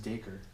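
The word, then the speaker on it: Dacre: First name pronounced Daker. Do not know how to say that name. It's a Daker. Okay, instead of Dacker.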